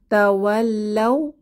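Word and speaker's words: تولوا: তা ওয়াল্লাও তাও তাও শেষে খালি আলিফ এটা উচ্চারণে আসবে না নো সাইন নো সাউন্ড তাওয়াল্লাও তাওয়াল্লা অর্থ তারা বিমুখ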